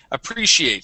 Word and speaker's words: appreciate: job uh appreciate okay our stress is on the re right here appre appreciate try that appreciate okay